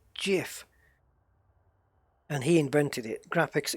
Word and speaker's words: GIF: it'll trigger everyone's yeah it it's pronounced jiff like 100% because the guy who invented the graphics format for that said so he came out on